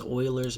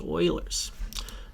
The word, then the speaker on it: Euler: practice what's known as Euler's method you might think it's Euler's Euler sounds better but it's meant to be pronounced Oilers in my experience so let's jump into